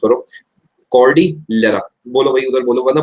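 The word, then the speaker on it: Cordillera: इसके अलावा आप इधर देखो, सबसे पहले तो मेरे साथ साथ इसे प्रोनाउंस करो, कॉर्डिलेरा। बोलो भाई उधर बोलो, वरना बोला ही नहीं जाएगा, कुछ भी लिख दोगे। कॉर्डिलेरा, कॉर्डिलेरा हाइलैंड्स जो हैं ये आपके किधर पड़ते हैं,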